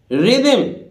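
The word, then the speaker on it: rhythm: इसी तरह देखिए रिदम, रिदम एच यहां भी साइलेंट है, रिदम रिदम रिदम रिदम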